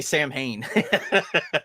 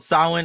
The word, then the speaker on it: Samhain: now i have a i hate when people say sam hayne so did you call it sauhan is that how you pronounce it yeah absolutely i'm i'm pagan so i i i say it correctly twisted that thing